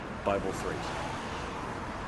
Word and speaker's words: Bi3LE: Bible 3. Except it's spelled Bi3LE. So like the middle B is a 3.